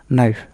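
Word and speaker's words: knife: rule number one শব্দের শুরুতে কে এন থাকলে তার উচ্চারণ হবে এন এক্ষেত্রে কে অনুচ্চারিত থাকে যেমন নলেজ মানে জ্ঞান এখানে কে কিন্তু অনুচ্চারিত থাকতেছে নাইট নি মানে হাঁটু এখানে কে অনুচ্চারিত নাইফ মানে ছুরি এখানে কে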